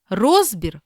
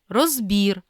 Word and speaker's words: розбір: третьому чи четвертому складі А є слова із подвійним наголосом це означає що обидва варіанти рівноправні і можна наголошувати так як ви звикли чи яке звучання вам більше до вподоби прочитаймо їх помилка або